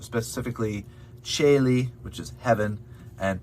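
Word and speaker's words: caeli: ah that's it um the letter c in many cases is pronounced as a cha sound like a ch specifically cheli which is heaven and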